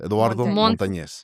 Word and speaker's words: Eduardo Montanez: Eduardo Montanz.